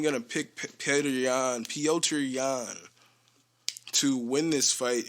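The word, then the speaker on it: Petr: pets p ultra yawn it's just like it's spelled p-e-t-r and i and i've been saying peter but i think it's supposed to be pronounced piotr um so sorry for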